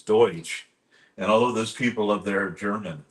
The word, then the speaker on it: Deutsch: It's not Dutch. It's Deutsch.